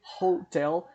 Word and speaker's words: hotel: Diferente de hotel, que tem o H no início, mas tem o som de R, né? A hotel e não an hotel, ok?